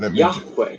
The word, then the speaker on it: Yahweh: So in the next sentence, God tells Moses the version he should say aloud, Yahweh, the God of our ancestors. Now, obviously, that's a wrong pronunciation. It's Yahweh. Yeah.